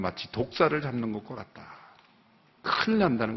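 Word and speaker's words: δόξα: 헬라어로의 영광이라는 단어가 우리말로 독사입니다. 독사. 독사라고 발음을 해요.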